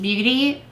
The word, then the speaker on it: Beauté: I think it's just beauty because it's a long e.